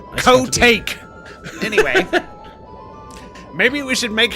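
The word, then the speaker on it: Kotake: It's pronounced co-take.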